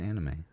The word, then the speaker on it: anime: It's commonly used in manga and anime. Oh. I think it's manga and anime. Anime. That's how you pronounce it.